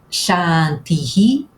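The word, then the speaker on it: शान्ति: E a terceira etapa, a terceira dica é que este S com um acento agudo em cima representa aquilo que em português nós escrevemos com ch. É o som do ch na palavra chá.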